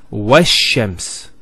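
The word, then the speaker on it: والشمس: Similarly, this lam is not pronounced either, because as we said, this is from the sun letters, and there's a shadda there, so it's wash-shams.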